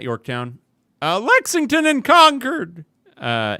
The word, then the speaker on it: Concord: Uh, Lexington and Conquered. Uh, is it conquered or Concord? I I usually say conquered, but yeah. Is that Kat if you want to say it like a New Englander?